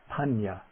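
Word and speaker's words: paññā: top of it is pronounced like an ny like the n in canyon or like the n in onion for example we have the word for wisdom is panya or the word for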